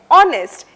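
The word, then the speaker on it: honest: तीसरा उदाहरण है ऑनेस्ट। इसमें H बिल्कुल साइलेंट है।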